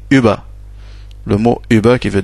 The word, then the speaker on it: über: avec les deux points, ça se prononce U. Avec les deux points. U comme le U français normal, comme über.